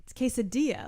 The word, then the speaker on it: quesadilla: It's quesadilla. Like, you don't pronounce the L's like that.